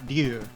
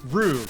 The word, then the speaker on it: Ryu: They, there's the main character of Street Fighter is Ryu. That's how his name is pronounced.